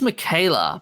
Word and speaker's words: Miquela: Michela I think it's Michela but m m it's SP with a q but I think it's pronounced with a a k yeah so it's interest